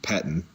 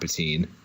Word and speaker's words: Pettine: you our defensive coordinators last name is pronounced Paton not Pettine Bobby I think you're